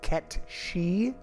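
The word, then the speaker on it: Cait Sith: to pronounce his name apparently it's kept she which I mean look at okay if that's really how to say it then okay but it sure doesn't look like it I would have never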